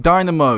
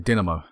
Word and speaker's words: Dinamo: We're going to get Dynamo. Yet again, we find ourselves playing Dynamo. We just can't seem to avoid them. Gotta love Dynamo. Oh, Dinamo. Sorry, Dinamo. It's pronounced like that.